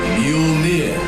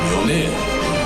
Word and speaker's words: Mjolnir: It's pronounced Mjolnir. Momnir. Mjolnir.